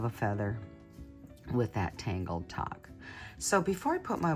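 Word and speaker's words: Tagh: And this is a tangle called talk. Uh it's spelled T A G H.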